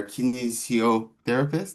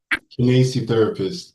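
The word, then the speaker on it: kinesiotherapist: He is our kinesio therapist. Did I pronounce that? Kinesi therapist.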